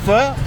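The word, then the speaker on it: phở: is two types of noodles there is the F which you may know as fo but it's actually pronounced F which is literally like one big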